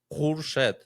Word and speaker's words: Khurshed: You need to say like Khurshed, so it's like really hard.